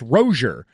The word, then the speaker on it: Rosier: Rozier from last year actually says his name is pronounced rosier so now all this